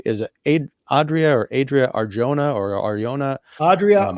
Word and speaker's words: Arjona: Is it Adria Arjona or Ariona? Adria Um, Arjona. The J is the Spanish pronunciation.